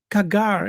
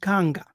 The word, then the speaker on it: kanga: But in the Kikongu language, we don't say kagar. It's pronounced kanga. We don't pronounce the r at the end.